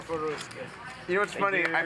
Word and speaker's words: Ryusuke: Normally, so I don't have to call you Rutoro. Rutoro? What's your, how, Ryusuke? Ryusuke. Ryusuke. My name is Ryusuke.